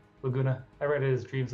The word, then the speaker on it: Laguna: How do you pronounce his name? Laguna. Laguna.